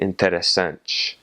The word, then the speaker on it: interessante: So the word for interesting is interessante, and that last little syllable is N-T-E, interessante.